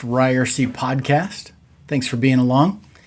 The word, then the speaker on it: Ryerse: This is the It's Pronounced Ryerse podcast.